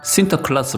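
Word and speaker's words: Sinterklaas: 하다보니 예외적인 국가였으며 이다 네덜란드어로 상투스 위 클라우스 는 센터 클라스 로 발음 되는데요 네덜란드에서는 시터 클라스가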